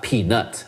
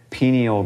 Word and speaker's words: pineal: So the pineal gland, the pineal brain, is not peanut. I always thought it was a peanut. Wait, pineal gland.